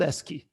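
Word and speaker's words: ASCII: they are called the S key codes this is I mean pronounced as s key as if you're reading it the abbreviation it represents text in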